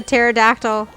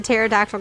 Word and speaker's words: pterodactyl: Why couldn't the pterodactyl... Why Ray's here. can't you hear the pterodactyl going to the bathroom? I don't know. Because the P is silent.